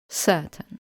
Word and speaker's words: certain: E and R in the stressed syllable and we get the sound certain.